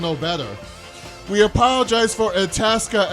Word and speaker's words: Itasca: We apologize for Itasca. It rhymes with Alaska.